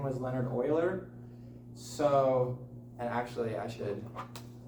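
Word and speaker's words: Euler: Leonard Oiler. That is pronounced Oiler. Pronounced it. Everyone thinks that when they don't have a teacher to tell them. Yeah. So it is actually it said Oiler but Leonard Oiler he was the first guy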